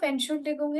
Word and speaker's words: Entschuldigung: So we break it at the syllable Entschuldigung.